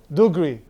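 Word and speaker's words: دغري: Dugree means Hebrew accent dugree with a with a with a g which is in in Arabic it's but because Hebrew speakers can't pronounce it like that because they have the they do it and then it's just a whole mess.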